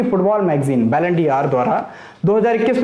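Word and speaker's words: Ballon d'Or: के रूप में इसको, मतलब प्रोनाउंसिएशन अगर देखा जाए फ्रेंच वर्ड है बैलन डी आर। तो ये बैलन डी आर का मतलब डी और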